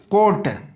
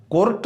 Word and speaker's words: court: दूसरा कोट, COURT, आर के बाद क्या है, टी, टी क्या है, कॉन्सोनेंट है, तो फिर इसका उच्चारण जो है आर का नहीं होगा, कोट बोला जाएगा, कोर्ट नहीं, कोट, WORLD, वर्ल्ड, इसको वर्ल्ड